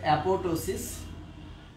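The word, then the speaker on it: apoptosis: কিন্তু বলা আছে, এবং একটার নাম হচ্ছে অ্যাপোটোসিস বা যেটাকে আমরা অ্যাপোপটোসিসও বলি যদি উচ্চারণে পড়াটা থাকে না, যাই হোক, আর একটা হচ্ছে নেক্রোসিস।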